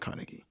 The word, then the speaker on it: Carnegie: Okay, yeah, it's pronounced Carnegie, right?